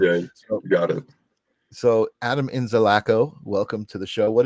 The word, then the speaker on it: Inzalaco: time I've never actually asked you how to pronounce it so I've been saying inzalaco to my myself uh but then I read it and I was like no it's probably in zico so you actually had it right the first